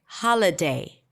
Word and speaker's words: holiday: all of a sudden the ha is really long because it's the primary stress.